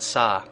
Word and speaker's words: sa: Make sure you pronounce it sa with an open A, because it means something different if you put a glottal stop there at the end.